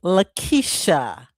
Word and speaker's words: Laquitcha: It is Laquitcha.